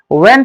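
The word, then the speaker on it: when: पहले ही लिख लीजिए वन क्या पढ़ते हैं इसको ज्यादातर लोग वन पढ़ते हैं जबकि ये साइलेंट रहता है इसे वन पढ़ना चाहिए व्हाई पढ़ते हैं उसे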